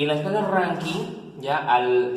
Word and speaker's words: Rankine: Se escribe Rankine, pero se pronuncia Rankine.